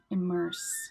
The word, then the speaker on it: immerse: Immerse. Just the S sound at the end of that one.